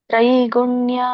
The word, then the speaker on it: ತ್ರೈಗುಣ್ಯ: ಗಮನವಿಟ್ಟು ನೋಡಿ ಉಚ್ಚಾರಣೆ ಮಾಡಿ ತ್ರೈ ತಕ್ಕೆ ರವತ್ತು 50 ಇದೆ ಹಾಗಾಗಿ ತ್ರೈ ಆಗುತ್ತೆ ಗುಣ್ಯ ತ್ರೈಗುಣ್ಯ ತ್ರೈಗುಣ್ಯ ಅಂತಂದ್ರೆ ಮೂರು ಪ್ರಕೃತಿಯ ಗುಣಗಳು